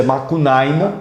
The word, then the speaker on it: Macunaíma: Então, a obra Macunaíma, o próprio nome Macunaíma, é um nome de origem indígena, a sua pronúncia é Macunaíma, né?